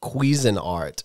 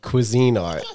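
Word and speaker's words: Cuisinart: I say it too and it's it's actually pronounced quein art so we've pulled different people on phone of friends and so far just me you and Mike said Cuisine Art and we're saying that it's like a dioro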